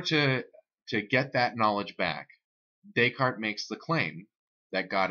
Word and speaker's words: Descartes: You pronounce Descartes, Descartes, and then if you're talking about something that's Descartes-ish, that's where you get the idea of Cartesian, or that phrase.